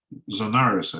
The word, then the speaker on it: Zonaras: But it's interesting that in later Byzantine commentaries on this canon, for example, Zonaras, I think is the proper English way of pronouncing it, he says that although